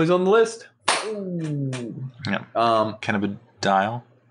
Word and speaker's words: Cannabidiol: Cannabidiol. You didn't say it right either. You said dial. Dial, Doyle. It's D-I-O-L. Cannabidiol.